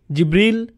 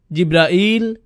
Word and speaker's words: জিবরাইল: জিব্রীল, জিব্রাইল, জিব্রাইল, জিব্রাইল, জিব্রীল। এই পাঁচভাবে তার নাম উচ্চারণ করা হয়।